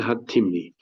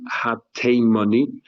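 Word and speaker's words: הַתִּימְנִי: Rabbi Eliezer, Rabbi Hercules, Rabbi Yeshua, Rabbi Akiva, the Shimon HaTimni. Some people say that it's pronounced Ha-Timni, and however, Rabbi Yaakov Ender says it's supposed to be pronounced Shimon Ha-Teimani, not Ha-Timni.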